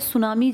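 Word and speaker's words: tsunami: मैं तो सुनामी की बात कर रहा हूं ना। सुनामी जापानी भाषा का शब्द है। जिसमें टी साइलेंट लिखते हैं। ऐसे बोलते हैं। लिखते हैं टी सुनामी। बोलते हैं सुनामी।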